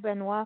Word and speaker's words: Benoit: the folk festival last year and we tab benoit am i pronouncing this correctly chad benoit yeah he's a headliner that's correct yeah and